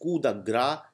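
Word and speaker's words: coup de grâce: the property next is K the it is pronounced K gra it is not pronounced C the grace so pronounce it rately rightly in a good way so kudagra means death blow or a final blow for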